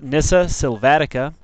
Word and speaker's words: Nyssa sylvatica: The scientific name is pronounced nissa silvatica and it is a member of the cornacier family.